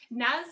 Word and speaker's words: Naz: love her to to bits and that is nice have i finally pronounced that right is that right yeah i